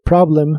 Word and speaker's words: problem: que significan este problema la o de Problem se pronuncia como una a profunda this Problem this Problem